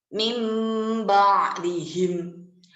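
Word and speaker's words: مِنْ بَعْدِهِمْ: Jadi nun sukun yang tadinya itu bertemu dengan ba, maka dibacanya itu menjadi seperti mim sukun yang bertemu dengan ba. Contoh, Mim ba'dihim. Mim ba'dihim. Jadi huruf nun sukunnya itu hilang, dileburkan menjadi mim.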